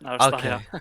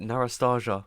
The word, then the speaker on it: Narastaya: Yes, Narastaya. Okay, okay. I was getting mocked in the in the live chat about the way I pronounce it. I pronounce it Narastaja, which is wrong.